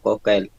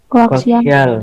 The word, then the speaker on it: koaksial: Kabel kokel. Ya, Bu. Masa kokel bacanya? Koaksial.